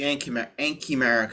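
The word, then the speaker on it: anchimeric: So just make sure that we're pronouncing it right. So it's the ankymeric effect.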